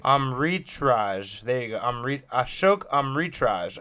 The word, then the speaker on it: Amritraj: His name is Ashok Amritaj. I think you said it right. Amritraj.